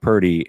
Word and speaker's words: Purdy: Brock Purdy. Yeah. Yeah. It rhymes with turdy.